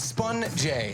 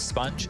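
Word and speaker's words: Spunj: Just for those playing at home, it's Sponge, S-P-U-N-J. So the Sponge, I know it's spelled incorrectly, but Spun J.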